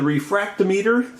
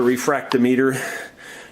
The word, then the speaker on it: refractometer: If you don't know what a refractometer is, I called it a refractometer. Most people pronounce it refractometer.